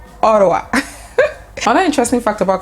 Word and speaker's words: Ottawa: is what's ha so they actually pronounce it as Ottawa Ottawa I'm an interesting fact